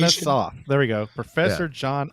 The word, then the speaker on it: Atanasoff: Yeah, the correct pronunciation. Atanasoff.